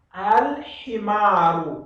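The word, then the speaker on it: الحمار: Então, eu tenho que pronunciar alif e lam e depois, em seguida, a himaru.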